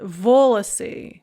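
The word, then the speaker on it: волосы: a lot so the nominative plural is volacy with the stress on the first syllable the genitive plural is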